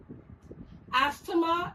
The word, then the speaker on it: asthma: Asthma is pronounced as asthma, and T and H together remain silent.